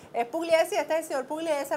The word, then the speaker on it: Pugliese: es Pugliese, pronuncia atrás de mí, Miguel Rodríguez Torres, ¿cómo es? Pugliese. Es Pugliese, este es el señor Pugliese, Rodríguez Torres, te lo presento.